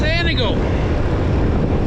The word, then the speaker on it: Antigo: Today we're in the city town of Antigo? No, it's Antigo. This is one of those communities that people seem to always mispronounce somewhere along the way.